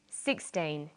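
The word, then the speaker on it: sixteen: Usually the first syllable in a number is stressed. 16, 60. Notice that it's the final N in teen that you have to be careful with.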